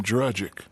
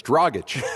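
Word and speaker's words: Dragić: because no one could pronounce the name dragic because it's dragach see that's what i'm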